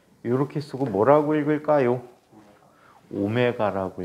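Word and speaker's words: ω: 오메가라고 읽어. W라고 하면은 죽여버릴 거예요.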